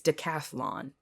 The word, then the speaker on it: decathlon: I also didn't know it was spelled without a second a. It's decathlon. It's crazy.